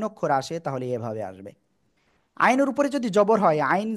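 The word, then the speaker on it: عين: গলাটা চেপে উচ্চারণ করতে হবে। এই অক্ষরের নাম হলো আইন। চারে লিপটেনে উচ্চারণ করতে হবে, আইন।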